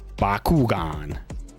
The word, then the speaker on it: Bakugan: Bakugan. That's how you pronounce it.